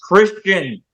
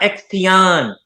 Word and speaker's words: Xtian: And that's Xtian, pronounced Christian, not Xtion. Okay? Pronounce it right.